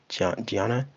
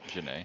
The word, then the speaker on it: Janae: I think that's how you say Gianna. You know what I'm talking about. Sorry if I butchered your name, girl. Janae.